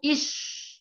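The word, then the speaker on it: iş: Tadi sudah saya jelasin, S yang ada ekornya sama seperti S-nya dalam bahasa Indonesia atau huruf sya dalam bahasa Arab. Jadi cara membacanya itu ish, ish, artinya pekerjaan.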